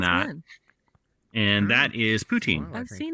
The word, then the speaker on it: poutine: Spell it this Cheese way: curds. I P-U-T-I-N. thought I read they were Poutine.